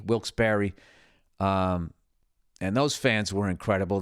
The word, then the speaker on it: Wilkes-Barre: And the night before, I performed in Wilkes-Barre, which I was calling Wilkes-Barre because it's spelled Barre, Wilkes-Barre.